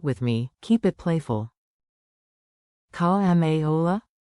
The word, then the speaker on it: כמה עולה: Pronunciation beat. Clap it out with me. Keep it playful. Call ma ola.